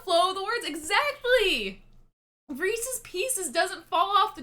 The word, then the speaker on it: Reese's: with pcs and and it's reese's because it's the the company is named after reese it's about the flow of the words exactly reese's pieces doesn't fall off